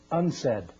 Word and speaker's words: UNCED: for environment and development it is pronounced unsaid and perhaps indicating the